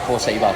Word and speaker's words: Korceba: Korceba.